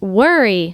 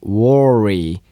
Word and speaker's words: worry: 발음을 조심해야 돼요. 하면 됩니다. 이거 안 되고요. worry. Worry. 혀를 갖다가 하고 구부려 가지고 worry. worry worry worry 혀끝이요 입 안에서이 천장하고 떨어져 있어야 돼요. 입 천정하고요. worry worry worry worry 걱정하다라는 얘기입니다.